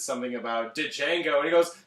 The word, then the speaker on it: Django: says something about did chango he goes the D is silent it's not dead Django okay uh before we